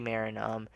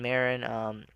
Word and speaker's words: Marin: It's like you say Marine, but you take off the E, but then it's Marin, but people don't understand how to say that. So, in my language, it's actually different, but in English, you just say Marin because of the way you pronounce letters and all that.